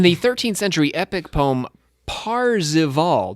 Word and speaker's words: Parzival: In the 13th century epic poem Parzival, not to be confused with Parsifal, that's the French version.